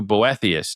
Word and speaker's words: Boethius: An Introduction to Greco-Roman Classics from Homer to Boethius.